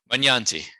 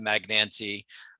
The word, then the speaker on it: Magnanti: so many different ways say magnante for me manyanti magnanti okay so that's paul paul p magsman yandy yes that's the original italian pronunciation you'll hear americanized magnancy um hence paul mags